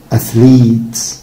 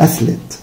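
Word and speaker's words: athlete: أثليت، طبعا دي حبيبي ما اسمهاش أثليت، أثليت. It's long E، أثليت، أثليت.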